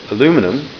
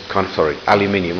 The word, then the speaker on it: aluminum: Now he's using anything from Inconel, titanium, aluminum, which I thought was aluminium, I'll say it right.